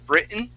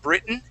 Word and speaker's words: Britain: sort of okay it's sort of like when we say the word britain okay britain is spelled with two t's there but we uh we swallow those t's okay so uh let's